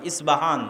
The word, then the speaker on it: ইস্পাহান: নগরী আজও ইরানের মধ্যে ইস্পাহান নামে সেই নগরী আছে আমরা প উচ্চারণ করি ইস্পাহান আরবিতে এটা উচ্চারণ হয় না আরবিতে হয় আল আসবাহানি বা উচ্চারণ হয় ইসবাহান বা আসবাহানি সেখান থেকে 70 হাজার